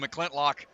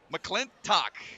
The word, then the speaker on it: McClintock: I threw a random L in there, calling him McClintlock. So it's McClintock. Got to make sure we put that emphasis on the right syllable.